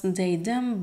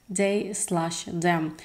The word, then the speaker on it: They/Them: I used to pronounce it just as They Them, but now I actually found out that it's They Slash Them.